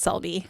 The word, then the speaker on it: Selby: It is not. You take out the H, so it's Selby. Selby, okay.